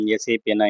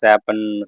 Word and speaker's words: SAP: அதுக்கப்புறம் எஸ்ஐபி வந்து சேப்பன்னு சொல்லாமல் எஸ்ஐபின்னு தான் சொல்லணும், ப்ரொனவுன்ஸ் பண்ணணும் அப்படின்ற மாதிரி சொல்லியிருந்தேன்.